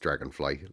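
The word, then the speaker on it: Dragonflei: Oh, dragonfly is pronounced dragonfly, like the insect. I love them, but YouTube said there weren't enough letters for my username, so I popped ei in the end. In German, it's pronounced like I, and it fit the letter count.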